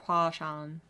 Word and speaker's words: Huangshan: That's kind of what it, so I'm just imagining it's like something like Huashan. You don't even say the G.